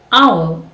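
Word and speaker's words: hour: is very simple again the h in hot is very aligned while h in our is silent why do they write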